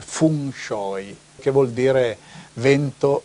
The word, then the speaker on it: feng shui: in Cina c'è il classico feng shui no Come viene chiamato la pronuncia giusta sarebbe Fun shoi Che vuol dire vento